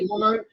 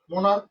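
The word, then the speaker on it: monarch: যেমন আমি বলতে পারি মোনার্ক, মোনার্ক। তাহলে একটা হচ্ছে ওয়াস, একটা হচ্ছে মোনার্ক। এখানে সিএইচ এর উচ্চারণটা শেষে আসছে চ, আর এখানে সিএইচ এর উচ্চারণটাতে আমরা করতেছি ক, মোনার্ক।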